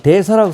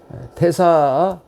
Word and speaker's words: 태사: 이 대사라고 썼지만 읽을 때는 이걸 태라고 읽어야 됩니다. 이 태자가 같은 겁니다. 태사 지적재 아반간 적초 삼반려 적체 사반결 적진 고방수 입어하 파조무 입어한 소사양 격경양 입어해.